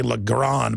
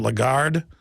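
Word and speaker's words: Lagarde: you pronounce her name I always say lron but it's a legard the point is is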